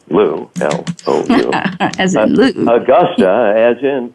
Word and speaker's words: Agosta: Augusta, as in, it's pronounced like the golf course, but it's spelled differently.